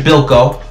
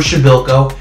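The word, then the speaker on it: Przybyłko: with fava people and Casper's ship bilko we finally cleared it up is Casper shovel cow shout out to my boy GGO for the proper pronunciation and honestly guys these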